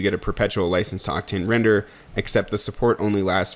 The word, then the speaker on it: RNDR: octane's version of a render Farm we'll get more into that later but it's going to be replaced shortly with something called render that's spelled rndr which is a new